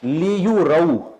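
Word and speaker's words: لِيُرَوْا: मुदरुन नासु अश्तातन लियु रऊ, ये बहुत अहम है, लियु रऊ, ये अलिफ तो वैसे ही साइलेंट होता है ना, लिखा जाता है पढ़ा नहीं जाता, असल में था युर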